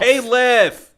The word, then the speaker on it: Khalif: Where were you when Khalif Battle went off? Caleiff.